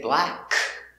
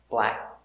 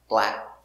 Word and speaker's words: black: crap with the ck it is a stop k we don't say black we make the position and stop black black crack sad snap let's